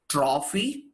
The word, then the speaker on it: trophy: Now, don't be very stern with that pronunciation. That is very important. It is not trophy. No, don't do that. I've seen some of my friends trying to overdo the pronunciation. That's not right as well. Just be very subtle and gentle with it.